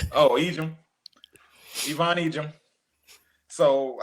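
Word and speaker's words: Yvonne Ejim: No, that one actually is pronounced Oh, Egyp. Ivon Egim.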